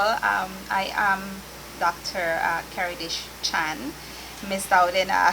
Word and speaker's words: Keridesh: i am dr uh karadesh chan missed out in uh has promised that she'll try not to uh to pronounce my first name but it's chan or better known as